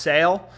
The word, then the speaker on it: Sale: des and Guerrero versus sail is tough left-handed pitcher versus left-handed batter yeah he's hit that line five out of five he's 242 against lefties it's pronounced sale so apparently it's pronounced sale so you know I mean